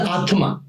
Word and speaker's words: Atman: I'm the Atma. N is silent.